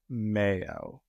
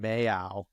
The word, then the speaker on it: Mayo: his name for um Mayo okay that's what I thought too forever Peter keeps saying mayow may he does it on purpose like he actually thinks that's how it's pronounced I'm like really maybe